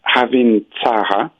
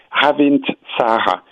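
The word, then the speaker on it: Ravintsara: Maybe to tell you about another favorite of mine is to talk about Havin Tsara, which is a very powerful antiviral, and it grows free in China, Japan, Taiwan.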